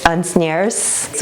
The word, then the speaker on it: Asnières: It is in, how do you say this, Asnières, which is just south of Paris.